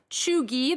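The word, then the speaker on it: cheugy: front on the guardian today these words are pronounced chugi the first one a word used by generation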